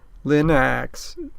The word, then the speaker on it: Linux: Linux rhymes with spinach.